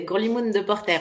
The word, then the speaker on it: Grolimoun de Porter: Bien la prononciation de mon nom, c'est Grolimoun de Porter, mais t'étais pas loin, effectivement.